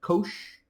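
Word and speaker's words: cosh: Uh that's just the way it's pronounced. Kosh and cinch of x.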